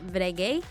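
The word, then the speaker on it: Breguet: their former clients but this one which is pronounced brege and was established in France in 1775 Ken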